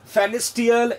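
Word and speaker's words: Pfannenstiel: That we कैन से फेनिस्टियल incision का दूसरा नाम है प्यूबिक इंसिजन। इसका पैरामीटर आप जानिएगा बच्चों, पी साइलेंट है, देखिए पील साइलेंट है, फेनिक्टियल इंसिजन बच्चों, फेनिस्टियल इंसिजन और प्यूबिक इंसिजन के नाम से भी प्रोनाउंस करते हैं।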